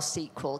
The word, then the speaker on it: SQL: thought we were doing really well until you pronounced sql sequel because and then we fell out that's an